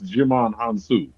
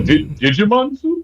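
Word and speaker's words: Djimon Hounsou: But you out here, like, you taught me how to properly pronounce Jimon Hansu. Because I was like, Digimon Hansu?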